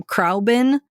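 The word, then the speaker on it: Khruangbin: Um, Crabin.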